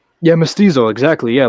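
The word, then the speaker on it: mestizo: I'm uh, how do I pronounce it? You're going to say Mystiso? Yeah. Mystizo.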